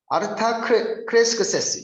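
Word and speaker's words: Artaxerxes: 이 아닥사스다라는 단어가 아르타크레스크세스 이거를 빨리 발음해서 아닥사스다 이렇게 됩니다.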